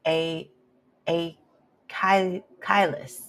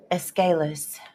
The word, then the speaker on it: Aeschylus: And then we have a quote by A. Kailis. Let me stop. Let me see if I can pull up the pronunciation. This is a Greek name. Aeschylus.